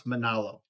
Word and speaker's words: Manalo: don't worry about pronounce Manalo Obolon o Manalo ma n AHL oh okay so but I'm